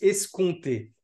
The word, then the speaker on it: escompter: escompter est-ce qu'on escompté parce que ça s'écrit est-ce qu'on peut mais on m'a on m'a repris et il paraît que ça se prononce escompté comme les contes du coup tu ne